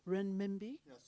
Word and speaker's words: renminbi: trade undertake trade in the and i never pronounced the chinese currency very well renminbi yeah is that correct or good wow thank